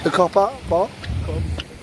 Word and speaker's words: Kop: Kop. Like Kop.